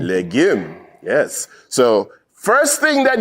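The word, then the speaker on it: legim: Jamaican in the house you know I would pronounce it legum but no no no no it's leim leim yes so first thing that you have learned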